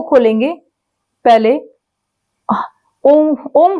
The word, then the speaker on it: ओम: ओम का उच्चारण करते समय ओ ओम जब हम आ बोलेंगे आ बोलते हुए धीरे-धीरे जब हमारा मुंह हो बंद होगा तो उ का उच्चारण होगा। फिर हमारा मुंह पूरा बंद होगा तो मा का उच्चारण होगा। जो हमारा मा का उच्चारण होगा वह हमारे कंठ से निकलेगा।